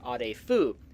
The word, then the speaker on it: Arefu: So if my Romanian pronunciation is okay, the proper pronunciation would be Arefu.